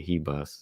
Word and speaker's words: Ribas: heas heas yeah you know more of a h sound to it I know some people told me but I said hold on now let me hear what the fighter says sound like she pronounced her own name as Amanda heas so yeah that's what